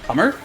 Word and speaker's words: Hummer: So here we have a song by, that name is pronounced Hummer. It's Hitomo Hamada, so it's a play on Hummer, but every time I see that Sigma, I want to read it Husser.